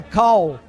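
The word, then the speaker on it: Karl: Eu imagino que é Cal.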